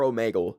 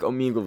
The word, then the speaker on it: Omegle: also is it pronounced Omegle or omegal I think it's Omegle because it's like Omega but I'm Canadian so